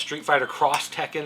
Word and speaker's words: Street Fighter X Tekken: That's what they call it because it's a crossover game. So it's Street Fighter Cross Tekken is how you're supposed to pronounce it, but I call it X.